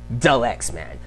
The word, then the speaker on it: Dalyxman: But the right way to pronounce Dalyxman. Think of, like Luger. My real name is Alyx, so that's where comes from. And then think of, hey man, that's my boy.